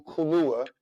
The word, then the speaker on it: Kaluuya: Yes, and it's going to be produced by Daniel Kaluuya, or how you say his name?